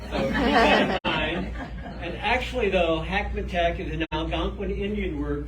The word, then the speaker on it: Hackmatack: after me okay everybody kind of rhymes with big mac attacks and actually though hackmantac is an algonquin indian